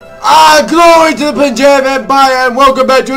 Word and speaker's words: Punjab: the name right punjab it was really interesting to learn that this was not actually pronounced pane but punjab okay that is something